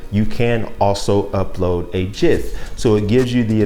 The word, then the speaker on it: GIF: And for the record, it is GIF, okay, and not GIF. The creator of GIF says that that is the pronunciation, okay? So stop saying GIF, it's GIF, like the peanut butter.